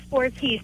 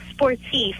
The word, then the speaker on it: Sportif: do you pronounce it he said laycock sportiest but it's sportif that's the correct french pronunciation so he should really